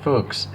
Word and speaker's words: Fuchs: fuchs wheels or well i don't want to pronounce it the other way so i'm going to pronounce it folks uh that would be another way but uh there's another way you could probably see it but probably be considered a swear okay well anyways i